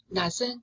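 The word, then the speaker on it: knot: 지금 not 했는데 not은 부정을 하는 단어죠. 근데 not하고 또 발음이 똑같은 단어가 not입니다.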